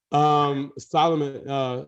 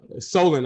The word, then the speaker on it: Solon: Solomon, Solon, I got to make sure I pronounce his name right. Solon Page has done a great job.